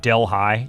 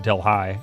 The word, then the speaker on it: Delhi: Said Delhi. Yeah. Well, I don't think I've ever heard anybody pronounce it Delhi. I've always heard it pronounced Delhi. Like a deli sandwich.